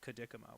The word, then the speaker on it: Cadicamo: My dear friend Anthony Cadicamo has a name that's very difficult to pronounce. And that is to say, it's difficult to pronounce seeing it written. It's very easy to say out loud, Cadicamo, but just reading it, everybody gets it wrong.